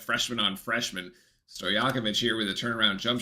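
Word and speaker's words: Stojaković: put a too strong sto yakovich all right that's how we pronounce sto yakovich I like stojakovic Anyway sto yakovich at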